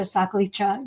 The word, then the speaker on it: Sakhlecha: But then if you read this marvelous book by Sakhlecha, you will get a whole new look at it.